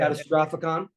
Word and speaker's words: Catastrophicon: name first of all catastrophic that's how you say it catastrophicon and once you learn